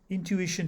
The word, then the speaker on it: intuition: a schwa for you intuition has four syllables and the ish is stressed these words were chosen